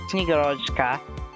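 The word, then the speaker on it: Снегурочка: So it's actually a Snegurochka.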